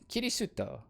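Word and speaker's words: キリスト: And Christian being pronounced as kirisuto.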